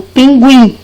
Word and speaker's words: pinguim: palavra portuguesa pinguim tá antigamente a gente tinha o tema para indicar que esse uh ele era pronunciado pinguim diferente de quando eu